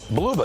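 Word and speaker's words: Blubaugh: Bluba, that's how you pronounce it.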